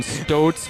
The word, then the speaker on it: Stoats: Stoats rhymes with boats.